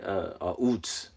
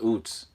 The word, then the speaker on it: Uz: Let's see, Uts. Okay, how to pronounce it says Uts.